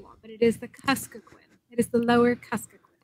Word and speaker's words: Kuskokwim: Kuskokwim. I'll get it one time eventually. That's right. I have pronounced Kyle's name, his last name wrong for,